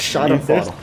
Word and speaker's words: Schadenfreude: Yes, you almost pronounced it right. Schadenfreude.